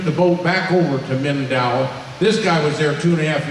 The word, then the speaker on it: Mindanao: How you pronounce that? Mindanao?